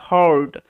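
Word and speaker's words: heard: When যখন, the king হার্ড this, এটার উচ্চারণটা হার্ড, কারণ আমি বলেছি এটার ভিডিও করে দেওয়া আছে যে ই এ আর তারপরে যদি এক্সট্রা কোনো লেটার থাকে সেই ক্ষেত্রে ই এ আর একত্রে আর সাউন্ড দেয়, ওই কারণে হার্ড হিয়ারের পাস্ট ফর্ম, ঠিক আছে।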